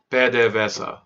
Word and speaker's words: PDVSA: that is PDVSA exactly bad day VESA that's how that's how you pronounce it in Spanish so essentially you have